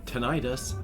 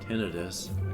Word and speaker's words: tinnitus: diagnosed by that, yeah, tinnitus, or tinnitus, depending on how you pronounce it, that ringing in your ears gets loud, really loud when you have ADHD.